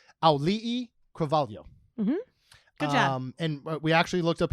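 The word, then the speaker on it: Auliʻi: who I finally learned how to pronounce her name because it's not easy and it is alih and we actually looked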